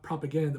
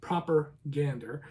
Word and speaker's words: Propagander: Propagander, and that's spelled Proper, Gander, Gander, not propaganda, but proper Gander.